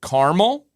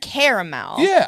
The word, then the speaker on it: caramel: and I get it I see the a in there you guys I understand but I also know you're wrong there's silent letters there's things it should be pronounced caramel but it it is